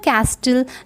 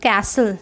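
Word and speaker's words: castle: इन द कैस्टल the crying started, और कैसल, actually it is pronounced as कैसल, sorry, the कैसल द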